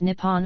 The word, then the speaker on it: Nippon: The name for Japan in Japanese is written using the kanji and is pronounced Nippon or Nihon.